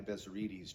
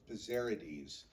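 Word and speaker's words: Bezzerides: Bezerides changed it to here. By the way, you hear his name pronounced Bezerides, but I'm preferring the more correct Greek Bezerides.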